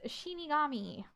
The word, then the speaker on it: Shinigami: Actually, it's pronounced Shinigami.